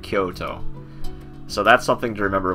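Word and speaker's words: 京都: of words like that Kyoto is another city in Japan that not it's not going to be Koto it's it's going to sound like Kyoto so that's something to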